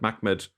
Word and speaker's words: Mahmed: So it's going to vary, and I'm purposely using the pronunciation Mahmed, because obviously when you add vocalization to the rasm, you can produce different meanings and different pronunciations, and that's actually critical to how you interpret the word. And I'm going to suggest actually that Mahmed is the original way it was pronounced, and that's very important.